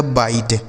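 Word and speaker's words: bite: टी ई से ट ये लिखा गया बाइट। बी आई टी ई बाइट।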